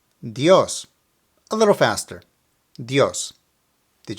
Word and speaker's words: Dios: and an O so you have to stress the O while making the sound now let me first mispronounce it and put the emphasis on the I dios dios now the correct way dios dios a little faster